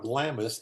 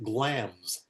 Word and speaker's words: Glamis: the Thane of what it turns out is not Glamis, it's Glams. The I is in there, you don't pronounce it.